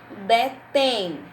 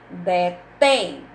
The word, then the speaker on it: detém: Detém, tem acento agudo no E da sílaba tem. Detém, é a sílaba que soa mais forte.